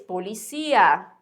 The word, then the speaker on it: policía: No português, o som, o tônico é polícia, né? Ah, lá vem a polícia. E para espanhol é policía.